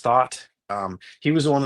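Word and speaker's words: Thoth: It's almost like a thought with an H. Oh, yeah. It might even be pronounced thought.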